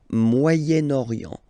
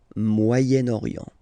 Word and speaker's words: Moyen-Orient: Okay, but then as you've got this vowel after, okay, you get to make the liaison between the two, le Moyen-Orient, Moyen-Orient.